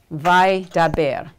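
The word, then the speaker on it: וַיְדַבֵּר: So a lot of times you'll hear in the Hebrew read, this will be read as one syllable, vai, and then you've got the root. So essentially, It's vaidaber, which means not he spoke, but speaks.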